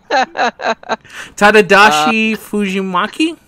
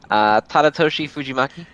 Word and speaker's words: Tadatoshi Fujimaki: Tadadashi Fujimaki? Let me look up exactly how it's spelled so I don't horribly butchers. Tadatoshi Fujimaki.